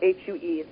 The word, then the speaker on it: HU: It's H-U or H-U-E, but it's pronounced that way.